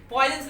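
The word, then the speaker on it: Poisson: वो पॉइजन जहर वाला नहीं था, लेकिन प्रोनाउंसिएशन पॉइजन ही है।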